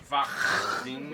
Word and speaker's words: Wageningen: And Good pronunciation. yeah, I know. I've been. Wageningen.